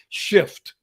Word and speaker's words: shift: I teach shift perspective they drop the f I don't know why and the other stuff happens so you got to be F and careful when you pronounce the word shift see you can shift your perspective make sure you pronounce that F because it will happen remember Joy is the